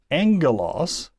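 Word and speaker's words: ἄγγελος: a hard G but when we have it in combination with itself as a gamma gamma it makes an sound so angulos is Alpha Gamma Gamma angulos oh by the way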